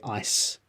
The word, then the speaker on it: ice: How do you say ice? Ice is with the s sound at the end. Eyes with a Z.